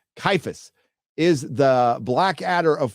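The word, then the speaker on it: Ciaphas: heroic 40K calphus Kane as spelled oh it's pronounced kaifus is the Black Adder of 40K and shows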